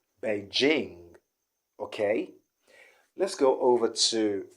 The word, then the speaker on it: Beijing: city in china uh many people do say beijing beijing okay they use the sh sound in this particular situation but i want to tell you that that's not the sound there the sound there is the g so it doesn't change okay so what we have there is beijing beijing beijing not but beijing okay let's go over